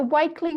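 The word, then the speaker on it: Wakeley: And if I talk to you about the, is it the Wakely riots? Am I pronouncing that right? Yes, the Wakely riots in Sydney earlier this year.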